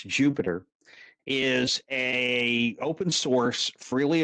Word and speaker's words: Jupyter: start working okay um Jupiter spelled with a Y well shall explain in a minute but pronounce Jupiter is a open source